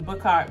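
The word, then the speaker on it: Bookhart: was i mean well i just told you book cart but it's spelled b o o k h a r t so but there was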